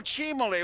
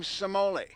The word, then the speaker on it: Cimoli: 1960 World Series, and everyone pronounced his name Cimoli. But I can guarantee you it's Cimoli because that is my mother's maiden name.